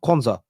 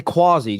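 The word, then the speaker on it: Quansah: I want say Quanza is it Quanza Tom K Quanza I'm saying it right yeah I always want to say quasi do you know what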